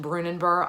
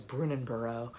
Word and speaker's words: Brunanburh: That's the Battle of Brunanburh, which I have just recently learned is pronounced Brunanburh. I've always thought it was Brunanburh or something like that.